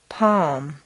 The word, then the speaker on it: palm: could should to chalk talk walk three calm palm psalm four already all right almond five although